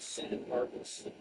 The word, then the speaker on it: San Marcos: San Marcos is pronounced San Marcos about 90%.